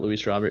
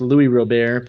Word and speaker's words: Luis Robert: It's not Luis Robert. It's Louis Robert, but I just hate when I hear announcers say Luis Robert.